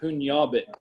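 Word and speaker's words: pugnabit: It does have a weird pronunciation, punyabit, kind of like lasagna, that nya, punyabit.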